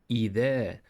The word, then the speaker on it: إذا: This is the letter Zal. You should place the tip of your tongue lightly between the upper and lower front teeth. Then you will pronounce it. The. This is English TH in that or this.